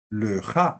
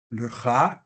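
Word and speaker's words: לְךָ: Le ja, que sería lo normal, y cuando tiene acento en pausa, laj.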